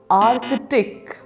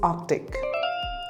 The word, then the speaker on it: Arctic: how do you pronounce this word Artic the correct pronunciation is Arctic repeat after me Arctic